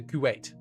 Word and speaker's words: Kuwait: It's pronounced like wait. Ah, it's a Kuwait.